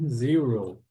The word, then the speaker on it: zero: do que zero e quando forem pronunciar o zero parece que tem um U aqui antes do R né zero One One repitam em